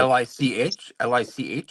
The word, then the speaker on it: Lich: No, that was the Lich King. So Yeah. Oh, What was it it? hot. A Leech King? Yeah, no, that was World of Warcraft, Wrath of the Lich King. So, But like Shit. Lich, or yes.